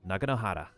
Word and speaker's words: Naganohara: They say Naganohara, but it's like... because the way it's... Japanese is round mouth and whatnot, it's supposedly like Naganohara.